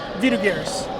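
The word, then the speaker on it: Vidugiris: Next up, Gaudenus Vidugaris, or as you would pronounce it, Vidugaris.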